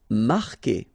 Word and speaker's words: marquer: Marquer, okay, QU together, it's only the sound K, K, marquer, you don't pronounce the U.